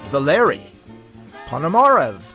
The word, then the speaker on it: Valery Ponomarev: It is my pleasure to introduce Valery Ponomarev to the show.